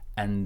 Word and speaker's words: and: And sounds like an. This D is silent, and when we're connecting an and then, it feels like there is an extra N in here, so and then.